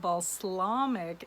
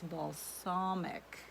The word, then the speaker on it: balsamic: I say it wrong. I did a video and I said it wrong a lot of times, and a lot of people let me know that it's not balsamic, it's balsamic.